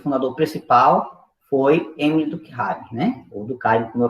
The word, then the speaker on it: Durkheim: Para a gente entender essas ideias, nós vamos falar do pensador chamado Emile Durkheim, né? Ou Durkheim, vai depender da pronúncia.